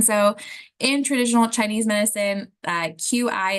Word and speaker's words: qi: And so in traditional Chinese medicine, QI is pronounced as qi, and they really want to have a balance of the qi.